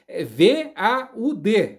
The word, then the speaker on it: Vaud: Quem entende de francês, perdão pela minha péssima pronúncia, mas se escreve dessa maneira como eu acabei de mencionar, com V-A U e D mudo, né?